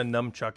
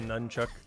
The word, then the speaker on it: nunchuck: I wouldn't be surprised I keep saying a numchuck instead of a nunchuck I'm saying numb instead of nun well AFK go overcap